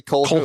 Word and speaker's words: Colquhoun: Colquhoun? I couldn't find out how to pronounce it either, but yeah, Colquhoun. Yeah. Colquhoun. Yeah, it's a weird Colquhoun. last name. Let me see. Yeah. Colquhoun. It's actually Colquhoun.